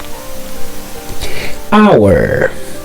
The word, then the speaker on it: hour: Ok, so à ça nous allons présenter c'est H qui muet, c'est H que on pas prononcer dans le vocabulaire là.